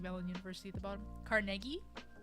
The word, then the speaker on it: Carnegie: it says just as Carnegie Mellon University at the bottom Carnegie was supposed to be pronounced Carnegie Carnegie at melon Carnegie Mellon Palace